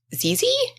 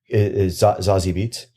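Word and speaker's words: Zazie Beetz: the actress from Atlanta is it zezy Oh you mean uh zazi beats sorry zazi beats she's amazing like I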